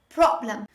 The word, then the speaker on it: problem: the word problem problem pay attention how i pronounce this word the stress is on the first syllable problem another common mistake made